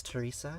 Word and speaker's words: Tiresias: Well, the name that you can see here is Tiresias, who was a gender variant Greek sage. But the anglicized version of that name is Teresa.